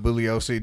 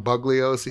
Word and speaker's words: Bugliosi: that they gave the Bugliosi, do you not pronounce the G? No. If you want to get him really pissed off, pronounce it. Well, he's dead now. Right. But when people call him Bugliosi.